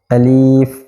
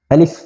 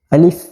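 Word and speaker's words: ألف: অনেকে উচ্চারণ করার সময় আলিফ এভাবে পড়ে এভাবে পড়লে উচ্চারণটা সঠিক হবে না এজন্য আমাদের এই হরফটা বলার সময় খুব তাড়াতাড়ি পড়তে হবে যেমন আলিফ তাড়াতাড়ি আলিফ তারপর হলো বা তা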